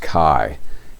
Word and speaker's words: chi: and it's chi-square analysis it looks like g but it's pronounced chi and it's a way